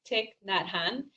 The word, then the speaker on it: Thich Nhat Hanh: This name, Vietnamese monk, I just looked up how to pronounce it correctly, and I'm gonna probably butcher it, but I think it's Thich Nhat Hanh.